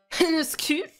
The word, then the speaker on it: Heniscute: My name is pronounced as Heniscute. His Heniscute. Oh, like penis cut.